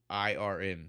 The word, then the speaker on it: Strathairn: It's Strathairn. Strathairn, Wow.